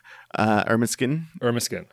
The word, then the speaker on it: Ermineskin: Ermineskin Cree Nation.